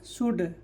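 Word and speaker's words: should: एस एच ओ यू एल डी क्या हो जाएगा, शुड, ठीक है।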